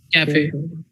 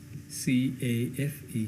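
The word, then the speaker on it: café: You can either pronounce it as cafe, okay, where the stress is on the second word F-E, second syllable, or you could say cafe.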